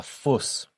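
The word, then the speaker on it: Fuß: And finally, dear fuss. Now, here's our special character again, the s set, which we pronounce just like two s's.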